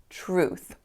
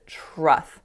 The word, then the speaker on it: truth: was on the word truth so instead of making the ooh sound there I believe I said trust so ooh it's a moving sound so not an O but really an ooh truth the next word that